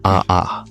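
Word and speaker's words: Ha! Ha!: Lui Duha is pronounced haha not like a laugh.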